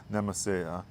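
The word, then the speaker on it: Nemesia: a type of Nemesis I know other people pronounce it differently but I I so I pronounce it as nemese this is a proven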